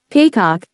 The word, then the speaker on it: paycock: Irish Civil War period the word paycock is the Irish pronunciation of peacock which is what Juno